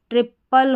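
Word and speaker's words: triple: ट्रायंगल और ट्रायल। यहां पर टी आर आई को ट्राई करके पढ़ा जा रहा है।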